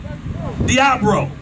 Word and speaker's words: Diabro: Now, am I pronouncing it right? What is it? Diabro. Carl Diabro. It sounds like something you get on the side of your foot, don't it?